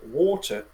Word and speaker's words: water: If you want to sound American, yeah, just pronounce the word water by changing the T to a D. Water.